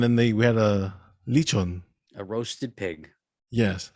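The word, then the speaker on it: lechon: they we had a leachon a roasted pig yes how do you sweat how do you say it roasted pig no lichon sure yeah anyways yeah roasted pig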